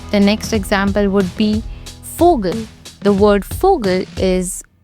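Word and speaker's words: Vogel: with the two oml out on it I pronounce it like fogal I don't say like Vogal right another example would be clavia clavia means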